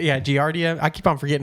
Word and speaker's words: Giardia: Yeah, Giardia.